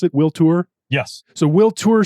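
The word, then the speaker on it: Toor: Is that how you pronounce it? Will Tour?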